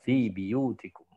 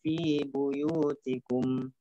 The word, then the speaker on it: بيوتكم: Imam Syu'bah di lafaz buyut dimanapun berada ya, buyut dimanapun berada diganti dengan kasrah pada ba, biyut. Nah, jadi Imam Syu'bah membacanya fi biyutikum.